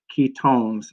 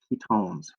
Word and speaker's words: ketones: chain like an aldehyde the suffix ending here is own pronounce it own as and you own something not one something and that so ketones not ki kept ones ketones and that are they